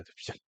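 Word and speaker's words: 支: 첫 번째 성조 로 발음 됩니다 . "Yī zhī", 즉 "liù zhī bǐ"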